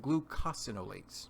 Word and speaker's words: glucosinolates: Guys, that word is pronounced glucosinolates.